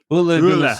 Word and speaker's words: Ole: by the fact that he's allowed everybody to mispronounce his first name for that entire time. Oola show I on the tapes that I've got